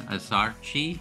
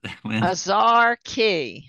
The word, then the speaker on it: Azarchi: And we're gonna move on to our next one, which is Azarchi. I hope I'm pronouncing that correct as well. How do you pronounce it? Azarchi.